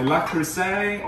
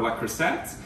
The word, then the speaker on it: Le Creuset: Today I have unboxing a little mini haul for my Le Creuset or Le Creuset. So depending on how you like to pronounce it, Le Creuset or Le Creuset.